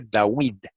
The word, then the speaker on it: David: Sahue, con U, y el nombre de David se pronunciaba antiguamente Dawid, con U.